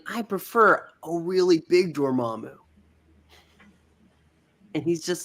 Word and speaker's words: Dormammu: Well, they both pronounce the name wrong. It's Dormammu.